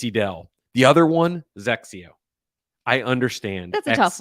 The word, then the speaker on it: XXIO: The other one, Zexio. I understand. That's a tough one. XXIO. Saying Zexio is not the same, but it's Zexio. It's not Exio. It's not double Exio. It's not anything. It's Zexio.